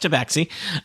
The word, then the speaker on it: tabaxi: It's pronounced tabaxi.